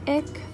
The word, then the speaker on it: ich: He has been suffering from marine ick for the last few days. It's spelt ICH.